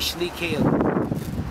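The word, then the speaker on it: Slaykele: for it would be Slay Cale, the narrow way. And it was a narrow lane. And like the Waterford people would pronounce Slee as Slay.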